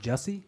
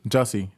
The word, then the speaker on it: Jussie: Before we go into to Jussie and the what's how do you pronounce it? That was is it Jussie? Jussie.